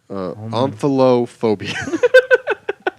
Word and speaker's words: omphalophobia: I will type it into our Google document where you can see how it's spelled. All right, this looks like this is omphilobia. Omphilobia. Omphalophobia.